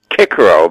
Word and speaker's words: Cicero: Now, also Cicero, and listen, I'm going to show off my Latin background, Cicero, because they used the hard C.